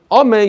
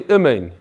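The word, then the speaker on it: אמן: Instead of saying amen, you say imen, imen. Basically, you're not pronouncing the word correctly. Ketufa means that you drop the nun at the end. You say amay instead of amen.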